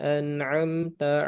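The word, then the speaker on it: أَنْعَمْتَ: Di sana ada hamzah kemudian ain.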